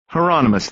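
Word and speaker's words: Hieronymus: Is that heronomous? Bosch said rhymes with anonymous. Heronomous.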